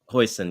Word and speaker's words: Huijsen: Is that how you pronounce it, Huijsen? Huijsen, yeah.